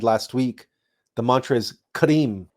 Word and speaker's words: KRIM: So you pronounce the mantra KRIM K-R-I-M: KRRRIIIMMM. You want to extend the R and roll the R.